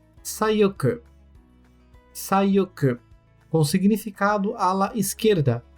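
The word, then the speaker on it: さよく: E sayoku.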